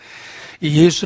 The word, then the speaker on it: 예수: 담아 놓으셨다 라고 이야기합니다 예수 라는 표현 자체가 영어로 지져스 라고 발음 되지만 헬라의 발음을 따서 아 예수라는 이름의 사용을 한다 그런데 이 헬라의 여섯